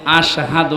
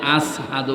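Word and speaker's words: أشهد: হযরতে বেলাল, ওনার সোহবা ছোট ছিল, এজন্য আশহাদু না বলে আসহাদু বলে ফেলতো, শুদ্ধভাবে উচ্চারণ হয় না।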